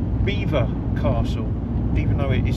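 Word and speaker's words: Belvoir: there is a castle and it is called Beaver Castle even though it is spelled um belor but it's pronounced Beaver which is which is bizarre but um I'm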